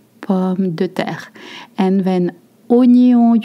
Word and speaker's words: oignon: And then oignon, you don't pronounce that wa, it's a o, oignon, and the gn makes the same sound that the nye in onion.